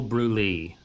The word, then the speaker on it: Brûlée: Is that how you pronounce it? Brûlée? Look Like up. she said, like cream, like creme, Brûlée.